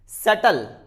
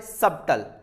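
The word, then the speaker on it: subtle: सटल। इट्स नॉट ए सबटल, यानी बी के बाद में टी आया इसीलिए बी को हम साइलेंट करेंगे।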